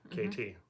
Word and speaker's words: KT: When you say KT, it sounds like Katie. KT.